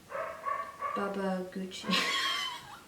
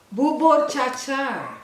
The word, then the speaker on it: Bubur Cha Cha: Baba Gucci. Say it properly. You're making up, isn't it? What's the name of this dessert? Your favorite. I'm going to mention it many times. Baba Gook.